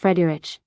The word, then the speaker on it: Friedrich: Oh, you see it, my name is Friedrich. It's an Afrikaans name from the old German Frederick, which means peaceful ruler. It is pronounced Frederich, and I'm from Azania, what used to be called South Africa.